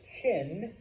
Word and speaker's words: Qin: But that eventually it is and it's pronounced Qin, eventually the Qin dynasty becomes the new power.